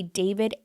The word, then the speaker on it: D4VD: visual for anyone listening, the way David is spelled is with a D4VD. David.